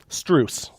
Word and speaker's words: Strus: So, Strus. Rhymes with moose.